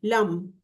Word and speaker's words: लम: म जो होता है उसको हम उच्चारण करते हैं, लंबा, अपनी ब्रीथ के अकॉर्डिंग उसको उच्चारण करना है आपको।